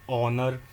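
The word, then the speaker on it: honor: लेकिन जब इनको हम प्रोनाउंस करते हैं तो इसमें ओ का साउंड पहले आता है।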